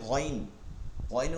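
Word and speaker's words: غين: আইন আইন এরপরে গাইন গাইনের উচ্চারণটা খের মাখরাজ থেকে হলো শেষ থেকে নরম করে আমরা অনেকে কি করি শক্ত করি গইরিন গাইন গাইন গইরিল মাগদুবি এভাবে গইনের উচ্চারণটা আসলে সহি না সহিটা হচ্ছে এটা বাংলায়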